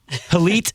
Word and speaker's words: Hillit: it reading it yes I think it rhymes with Elite because I would put you as Elite is that fair um okay no I'll take it I'll take it sure Elite Alfie there you